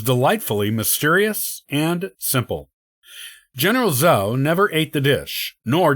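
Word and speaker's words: Zuo: t sound the general's real surname was actually zou which is pronounced z-u-o rather than the so that we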